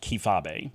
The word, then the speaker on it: kayfabe: ways during this video it should be pronounced kifabe can we all agree that that's the coolest way to pronounce it but anyway kfabe the